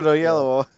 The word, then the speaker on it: Oyelowo: David Oyelowo.